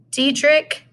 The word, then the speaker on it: Diedrich: So this man, Diedrich Knickerbocker. It's a funny name, I know. Diedrich is spelled died rich, by the way.